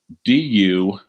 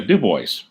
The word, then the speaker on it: DuBois: well yeah it's it's it's a french name and the french pronounce it dubois i'm sure yeah so